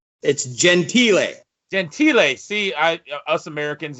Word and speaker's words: Gentile: because you know i always say your last name wrong but it's gentile gentile see i us americans you know a